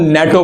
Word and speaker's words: NATO: तो इस तरह की एब्रीविएशन को हम लोग कहते हैं एक्रोनिम, क्योंकि इसे हम NATO नहीं पढ़ते बल्कि इसको हम नेटो पढ़ते हैं, यानी कि बतौर एक मुकम्मल वर्ड के प्रोनाउंस करते हैं।